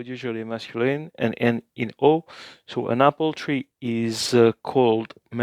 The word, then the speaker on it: ho: Ho fame, I'm hungry, or literally translated, I have hunger. So the short words, o and a, the h is silent, are two forms of the verb to have in Italian.